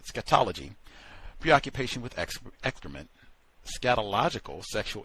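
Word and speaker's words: scatology: Sketology Preoccupation with excrement scatological sexual interest with excrement.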